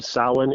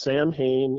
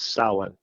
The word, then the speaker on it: Samhain: solstices are critical um salon it's not pronounced samhain if anyone says that please stop saying that it's solid it's irish okay it's an old word um irish spelling does not make sense with their pronunciations so um the band